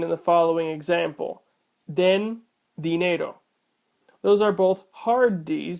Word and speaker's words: dinero: The D on dinero is after an N, which is a nasal sound, causing that D also to be hard.